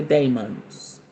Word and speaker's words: daemon: She says she loves working with the daemons. Am I saying that right? Yes, I know. That's the proper way to say it. We we will talk demon, but it's daemon.